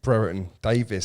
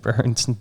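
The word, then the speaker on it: Brereton Díaz: What, you mean Brereton Davis, as Simon Pitts likes to call him? Brereton Diaz.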